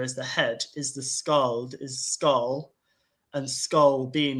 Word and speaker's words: skald: Remember the skald, which is the future? Yeah. The skald. This D is silent sometimes in language.